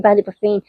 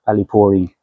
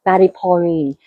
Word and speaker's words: Ballyporeen: Even here in Ballyporeen, I'm pronouncing it wrong, Paul. Ballyporeen. Ballyporeen. So yeah, so it sounds like poaching, Poaching, yeah.